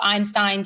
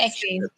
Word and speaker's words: Epstein: We knew about this whole possible Einstein stuff. We knew about this whole Einstein, whatever. Say it, Tori. I don't care how you pronounce the damn thing, okay? Epstein.